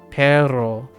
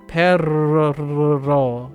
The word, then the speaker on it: perro: You can roll your R's very long, like perro. You can go perro, right? Perro. You can roll and hold the R.